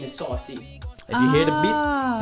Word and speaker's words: Suhcy: Because how do you spell it? SUHCY. But it's pronounced saucy.